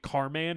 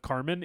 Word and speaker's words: Carman: And if you're wondering why I'm saying it Carman instead of Carmen, it's because that's how it's spelled. C A R M- an Carman.